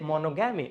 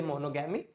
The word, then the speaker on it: monogamy: Only one syllable has to be stressed.